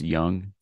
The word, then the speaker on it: Jung: pronounced Young.